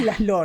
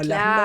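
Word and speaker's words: László: Ah, Laszlo, está bien, es Laszlo, no Laszlo.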